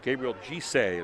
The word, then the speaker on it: Gabriel Gise: They're going to say Gabriel Gise is the way you say his name.